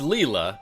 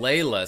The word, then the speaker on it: Leila: I know a girl whose name is spelled Leila, pronounced Leela, excuse me, Leela, pronounced Leela, says Cecilis, but decided to start pronouncing her name Leila sometime in her 30s.